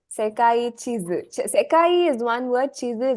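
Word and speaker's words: 地図: Sekai chizu.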